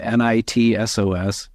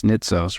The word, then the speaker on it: Nitsos: I have this really almost unpronouncable Greek last name nit SOS ni T SOS nitos right there are so